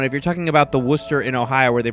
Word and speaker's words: Worcester: only reason why I even know that you pronounce it Worcester is because when I went to school briefly